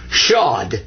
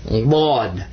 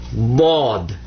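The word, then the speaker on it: ض: But his name's not Shad.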